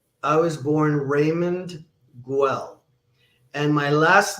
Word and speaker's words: Guell: been called Guell, and in Brazil they call me Hegel, because the R over there is because like the G is usually silent there, right? Or it's pronounced ha. Well, no, because the GU is like in Spanish with QU, que.